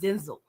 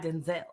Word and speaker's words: Denzel: is starring Denzel Washington because he confirmed it's pronounced Denzel not Denzel okay he just been letting us slide for